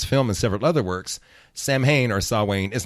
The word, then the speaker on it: Samhain: It looks like Sam Hain, how it's spelled, Samhain, but it's really pronounced Samhain.